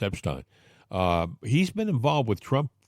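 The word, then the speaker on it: Epshteyn: A couple of nights ago at Mar-a-Lago, Elon Musk got into a loud shouting match with Boris Epstein, or Epstein. I think it's pronounced Epstein.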